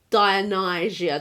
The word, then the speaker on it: Dionysia: It was just one part of this big festival called City Dionysia. That's how I say it. Dionysia.